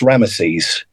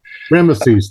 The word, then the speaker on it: Rameses: listening to this okay so it's it's actually pronounced rameses rameses thank you rameses which who was a um